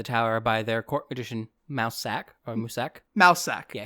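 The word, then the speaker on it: Mousesack: So the king and queen have Siri locked inside the tower by their court edition mouse sack or musack. Mouse sack. Yeah. His name is actually pronounced like musack but it's spelled spelled mouse and then sack.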